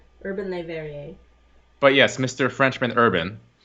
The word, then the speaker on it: Le Verrier: But it's like, how do you pronounce Perrier? Verrier. It's Verrier. Urban Le Verrier.